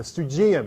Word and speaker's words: Stoogeum: But yeah, the Stoogeum, it's called. It rhymes with museum.